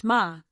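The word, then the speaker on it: 马: Well, horse is pronounced ma, not sure of what tone, or even how to indicate it, and I told her that.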